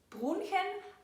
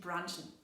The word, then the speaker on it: brunchen: Wir sagen nicht brunchen, aber wir verwenden die englische Aussprache, nämlich brunchen.